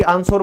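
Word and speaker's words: answer: रहे हो ना, तो देखो W साइलेंट क्यों हुआ, पता चल गया आज। फिर है उत्तर, आंसर, कई बच्चे इसको स्कूल में हमेशा आंसर, भाई आंसर बता दे, क्यों, उनको ये नहीं पता कि ये W साइलेंट नहीं है।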